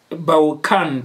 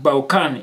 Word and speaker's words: Bachan: Ndi B-A-C-H-A-N. B-A-C-H-A-N. Baukan. Baukan. Ringatuli Baukan pronunciation ya budi. Baukan. Baukan. Baukan. Ndi yoni pronunciation ya budi heyo.